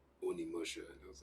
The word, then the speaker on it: Onimusha: It's Onimusha. And no one ever corrected me. I didn't find out until like a little bit later. It was Onimusha, and I was like, Onimusha.